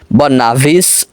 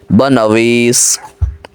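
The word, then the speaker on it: بنویس: একটা জিনিস মনে রাখবেন, ফার্সিতে ওয়ার নিচে জেড দিলে তার উচ্চারণ ওই হয় না, বরং তার উচ্চারণ ওয়াও এবং ব এই দুইটির মাঝামাঝি উচ্চারণ হয়। অনেকে আছে বাংলায় যে উচ্চারণটা লেখা থাকে সে উচ্চারণ অনুযায়ী উচ্চারণ করে। বনাভিস ভ দিয়ে বলে, আসলে ভ দিয়ে উচ্চারণ হবে না, বরং উচ্চারণ হবে ব এবং ওয়াও এই দুইটার মাঝামাঝি, বনাভিস।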